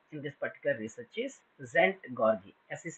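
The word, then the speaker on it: Szent-Györgyi: is involved here in this particular research is zent gari as is silent here Albert zent gargi he's a Hungarian physiologist he turned his phys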